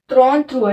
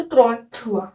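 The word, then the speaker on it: trente-trois: त्रॉन थ्रुआ। इसको त्रॉन, इसको थ्रुआ, तो त्रॉन थ्रुआ, है ना।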